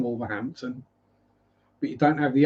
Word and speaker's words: Wolverhampton: Yeah, you see, you do have the T in Wolverhampton, but you don't have the H. Wolverhampton.